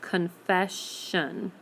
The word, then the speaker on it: confession: with the S but we're not going to hear the S sound at the end anywhere we're going to hear the SH sound so we have confession confession um I don't think